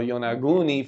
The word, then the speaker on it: Yonaguni: So Yonaguni, for those that don't know. So that's how you pronounce it, because we couldn't figure out how to pronounce it.